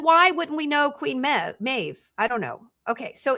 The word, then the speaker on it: Meve: It's spelled Meve, but it's Maeve.